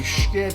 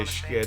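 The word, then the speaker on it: Schiit: This is the Schkit Saga. People love the way I say Schkit. It's actually pronounced another way.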